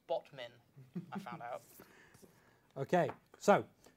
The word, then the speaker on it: Batman: And it's pronounced Botmin, I found out.